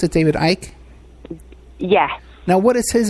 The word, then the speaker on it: Icke: Is that how you pronounce it, David Icke?